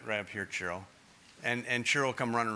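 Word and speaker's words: Ciro: Raise your hand if you have a question, and Chiro, right up here, Chiro. And Chiro will come running around to you. By the way, Chiro is spelled C-I-R-O.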